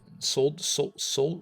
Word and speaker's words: solder: So in the US, the L is silent. Solder?